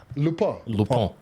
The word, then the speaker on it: Lupin: It's pronounced Lupin. Lupin. My bad. But it's a French word, so in English you can say it whichever way.